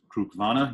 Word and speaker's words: Cruach-Mhona: of info on this whisky itself fruit vana pronounced Krug Lana even know clearly one of those much like